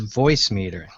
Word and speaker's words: Voicemeeter: The name of the software is Voicemeeter. And voice, V-O-I-C-E, and meter is spelled funny, M-E-E-T-E-R. So it's a purposeful misspelling.